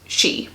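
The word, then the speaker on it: Sidhe: The she word, that's actually spelled S-I-D-H-E, but is pronounced she.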